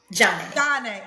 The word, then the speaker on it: Janae: How you say it? Johnny. Johnny. It's Johnny, right? Johnny, yeah. Yeah, like Sade, Johnny, Yeah.